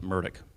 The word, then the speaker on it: Murdaugh: family that it involved the Murdaugh family, excuse me, or as they pronounce it, Murdaugh.